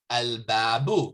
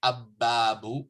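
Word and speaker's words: الباب: So al-babu, Claire pronounced the lam because the ba is not from the solar letters. So, and there's no shadda there. So you don't say abbabu, you say al-babu.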